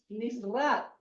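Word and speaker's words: נצרת: Nazaret es Nisrat. Es la misma raíz, miren, la misma raíz.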